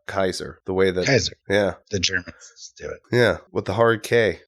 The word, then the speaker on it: Caesar: Caesar was actually pronounced Kaiser, the way that Kaiser. Yeah. The Germans do it. Yeah, with the hard K.